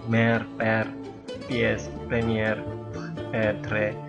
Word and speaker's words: premier: bilang r mer PS premier eh TR. Tapi eh memang kalau lebih baik kita mengikuti cara pengucapan dalam bahasa Prancis yaitu dengan menggetarkan tenggorokan.